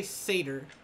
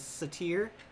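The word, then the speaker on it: satyr: legs say tear okay i heard somebody say seder one time but when i read percy jackson as a child i always kind of read it as satire with emphasis with the stress on the second syllable instead of the first but sa seder makes sense and satire would also make sense yeah i mean ancient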